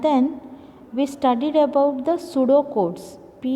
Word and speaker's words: pseudocode: So similarly, there are disadvantages, and then we studied about the pseudocodes. PSEUDO, pseudo. It is pronounced as pseudocode.